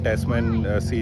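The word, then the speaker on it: Tasman Sea: या फिर तस्मान हिल नहीं सॉरी तस्मान सी, या फिर टैस्मैन सी जैसे ये बोलते हैं, इसको प्रोनाउंस करते हैं।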